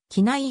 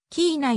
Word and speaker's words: Kenai: 国立公園がある本来の英語の発音は来ないよりキー内に近くほんと仕置きいない